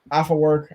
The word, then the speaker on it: Afework: instagram at uh after work i was about to say a4 because that's how i thought to spell it um but i i said your last name right right i said that right yes you do all